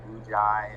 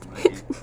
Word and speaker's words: Muji: I get a lot of like Muji and like Muji and shit like that, but it's Muji. It's Japanese.